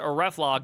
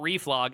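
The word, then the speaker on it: reflog: Get ref log command pronounced ref log, not reef log, is kind of like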